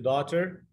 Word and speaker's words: daughter: برضو كلمه daughter نلاحظ ان الجي في daughter لا تنطق، اهي انا عملتها لك بولد وعملتها لك بالخط الاحمر.